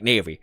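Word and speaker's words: Nephis: Someone said pronounce it like navy. So I'm pronouncing it like navy. It was naven before. Now it's navy.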